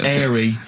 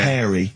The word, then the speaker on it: hairy: Sorry, I noticed both of you there dropped the H, or the H, or however it's pronounced. I had to. So airy kids, hairy.